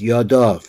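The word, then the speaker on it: ידיו: So it says Yado, but it should really means, Yado means his hand, but it's pronounced, as the Matuk says, Yadov, which is plural, but it's written singular.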